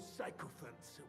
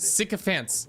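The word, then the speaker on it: sycophants: the city hall, those psychopants would only benefit. Sycopants. It's pronounced sycopants. Psychopance is not all right.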